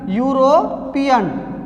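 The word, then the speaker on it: European: का यूज करते हैं, लेकिन इसकी प्रथम उच्चारण ध्वनि क्या है? यू, यूरोपियन। इससे पूर्व हम अभी मैंने बताया आपको कि प्रथम उच्चारण ध्वनि पर ध्यान देना है।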